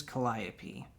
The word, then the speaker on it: calliope: okay oh i see okay so it is calliope and basically it's like the picture's giving you